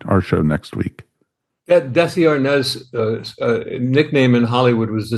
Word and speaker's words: Arnaz: By the way, I learned in the first chapter that it's not the real pronunciation of his last name is Arnaz. It's not Arnaz.